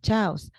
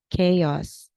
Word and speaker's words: chaos: pronunciation say for examp mispronounce word chaos so you say again will you say the word again so Chow okay this word is chaos okay everybody so you